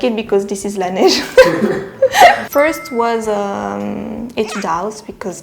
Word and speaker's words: Laneige: laneige is really yeah the pronunciation is laneige which means la is the and nesh is a snow snow snow the snow and i think it's